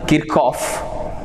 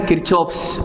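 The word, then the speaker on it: Kirchhoff: person called Keep Calm so actually it is pronounced as a kickoff but doesn't matter if you pronounce as a kickoff so you can call it as a kirchoff's laws this is the topic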